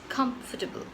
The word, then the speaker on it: comfortable: for this word is comfortable. Comfortable. It has 4 syllables: com, f, t, bl. So it's 4, and you stress on the first part, which is come.